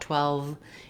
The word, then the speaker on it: twelve: I don't want it to sound like too well, but rather twell. So have your lips ready for the W. Then probably the most challenging part about 12 is putting the V, the voiced V sound at the end. For many people, the W and V sounds can be a little